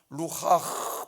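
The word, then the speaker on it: רוח: 생기는 생명의 생명을 불어넣으셨어요이 말은 히브리 말라는 루하 발음하기도 해요 바람인데이 말은 바람이라는 뜻도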